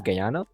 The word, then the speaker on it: Guyana: It's pronounced as Guyana.